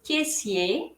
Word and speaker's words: caissier: সো এখানে এ আর আই এর উচ্চারণ হবে এ, আর এর পরে আই ই আর এর উচ্চারণ হবে শুধুই ইয়ে। আরটা আমরা উচ্চারণ করব না যখন ম্যাসকুলিন হবে, আর যখন ফেমিনিন হবে তখন আমরা উচ্চারণ করব। সো এটা হবে কেসিয়ে যখন পুলিঙ্গ, আর কেসিয়ার যখন স্ত্রীলিঙ্গ।